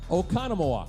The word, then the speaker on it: Oconomowoc: Okano Moak? Yes, he got it. Yeah. He gets the bell. There we go. Oconomowoc.